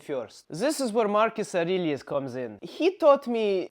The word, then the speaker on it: Aurelius: Did I get better in pronunciation? Aurelius. It's Aurelius.